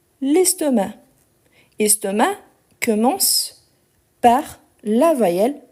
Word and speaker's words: estomac: a mal à l'estomac estomac on ne prononce pas le C à la fin ok donc il a